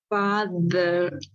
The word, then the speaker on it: father: Pon tu diente entre tu lengua, la lengua entre los dientes acá. Sí. Y luego haz que vibre así. Ahora dices father, father. Inténtalo. father, Esa es la pronunciación que es la más natural. Xiomara, inténtalo. Father, No es una D, no es father. Father, fa, no.